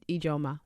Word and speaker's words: Ijoma: So the actual pronunciation is Ijoma.